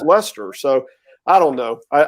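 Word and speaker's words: Leicester: from where i live is a place called lester north carolina spelled like you guys in england which is leecester right but it's lester so i don't know i i guess a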